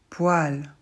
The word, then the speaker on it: poil: va les voir ensemble autres exemples de e prononcé comme la lettre A moelle poil ces mots-là je suis désolée ce sont des exceptions c'est-à-dire qu'en principe o et E en français ne font pas a mais euh dans ce